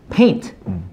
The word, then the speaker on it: paint: Paint P 발음 paint 하고 faint F 발음 아랫입술 물고 faint.